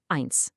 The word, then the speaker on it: eins: Whenever you see these two letters together, you just say I. Yep, just like you're pointing to your own eye.